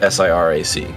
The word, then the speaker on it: Sirac: I assume it's Shirac. It's spelled S-I-R-A-C, but it could be Sirac.